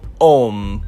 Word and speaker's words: Homme: If you're not a French speaker, then you probably think this is pronounced like home, but it's actually Homme, which means man in French.